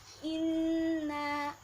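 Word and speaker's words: إِنَّا: di ayat yang ketiga ada kalimat Inna cara membacanya Nun tasydid harus ditekan dan didengungkan seperti ajang pertama tadi Inna Inna kemudian Nun dibaca pendek ya jangan panjang-panjang Hai terus t-shirt niaka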